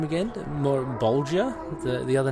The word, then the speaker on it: Malebolgia: you were speaking to a how do you pronounce his name again Maura Bulger the other name for the damn Malibu do ya melih Bulger yes oh yeah you guys were shooting the